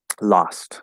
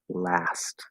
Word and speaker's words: last: Lost, right? It sounds very British. Last week. I saw him last week. So that sounds British to me. If you want to fix that word, you have to use the fourth vowel, last, which could be a little harder to do.